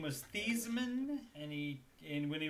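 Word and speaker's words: Theismann: sizeman his name was thiesman and he and when he was at notre dame he changed the sizemen so that it would rhyme with heisman and he did not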